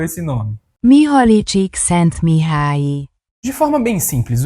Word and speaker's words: Csikszentmihalyi: Vou deixar o Google pronunciar aí, porque olha, é quase impronunciável esse nome. Mihaly Csikszentmihalyi.